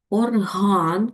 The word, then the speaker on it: орган: Орган. Правильно. Наголос падає на другий склад.